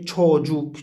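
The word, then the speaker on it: çocuk: تش تشوجوك تشوجوك تشوجوك تشوجوك، هنا الك أيضا قريبة من القاف يعني قاف مخففة، نعم لأن الذي جاء بعدها هو حرف من حروف القلن، حرف من حروف المفخمة.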